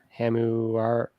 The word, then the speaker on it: Hammurabi: Epic of Gilgamesh, Code of Hammurabi.